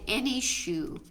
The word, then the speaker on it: Enyshou: So one beard that has been demonstrated is a beard using the Zentangle pattern called Any Shoe. It's ENYSHOU. And Any Shoe, Can you spell that again?